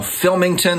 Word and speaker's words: Philmington: I really enjoy watching this channel, Philmington. That's spelled Phil, P-H-I-L, Mington, Phil Mington.